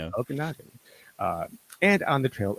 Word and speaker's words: Okanagan: Okinagen, right? Is that how it's said? Okanagan. Yeah. Okanagan.